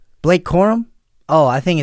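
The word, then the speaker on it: Corum: And then my Pooky Puka Nakua and Blake Columbus both found the Yeah, both found the end zone twice.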